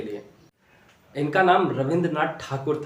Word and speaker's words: ठाकुर: साम्राज्य स्थापित था और ब्रिटिश लोग इनको ठाकुर के बजाय टैगोर कहा करते थे। ठाकुर का प्रोनाउंसिएशन सही से नहीं कर पाने की वजह से जो बाद में टैगोर ही प्रचलित हो गए।